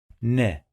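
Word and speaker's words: ن: It sounds like letter N in English.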